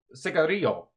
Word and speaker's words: cigarillo: And then in this, he pronounced it cigarillo. Yeah, he throws that little accent on it.